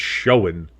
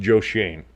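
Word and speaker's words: Joe Schoen: it's it looks like it it should be pronounced Shen but it's but it's pronounced Joe Shane uh but like that should be switched around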